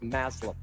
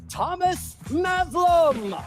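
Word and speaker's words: Thomas Mazloum: And while he deserved his own opening number, very little rhymes with Maslam. So, please welcome the chairman of Disney Experiences, Thomas Maslam.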